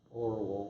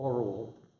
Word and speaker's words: Orual: I always say Orual. I remember when I was 12, I would read a book and I'd have my own pronunciation for the characters. At least now, having taught language for 50 years, I think about what the names are. Orual, O-R-U-A-L is her name.